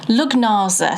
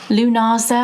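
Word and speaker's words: Lughnasa: Do you pronounce the G and the H? I kind of think I don't want to pronounce the G. And Lugnaza sounds wrong. Lunaza.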